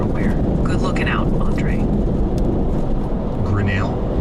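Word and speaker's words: Grinnell: Grenell is pronounced Grenell with the emphasis on that second syllable, L.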